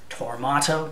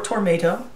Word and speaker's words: Tormato: that the there is a picture disc for Tormato or Tormato, depending on how you pronounce it.